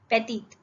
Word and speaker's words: petite: Petty petty था यहाँ पे, अभी हो जाएगा petite. प्रोनाउंस होगा टी, पेटीत, दोनों में ई लगा